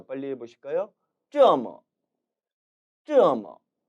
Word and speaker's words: 这么: 이 这么라는 단어의 발음은 특히 뒷부분 뭐에 주의하셔야 합니다. 왜냐하면 이것은 언뜻 들었을 때는 마치 뭐처럼 들릴 수도 있기 때문이지요. 하지만 앞서서 발음 부분에서 말씀드렸다시피 중국어에는 어라는 모음은 없습니다. 반드시 뭐 발음이 되어야 하는데 이 뭐는 경성 처리되기 때문에 가볍게 뭐로 읽어야 하는 것이죠. 따라서 들릴 때는 뭐처럼 들릴 수는 있지만 절대 뭐는 아님에 주의하시기 바랍니다. 따라 읽어보시죠.